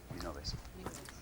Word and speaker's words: Minoves: It's a Catalan surname, so it's Minoves.